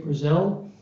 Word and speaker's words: Frizzell: I want to say Frizzell. Okay, he's giving me a thumbs up, who has done the IT side of this, and very grateful for that.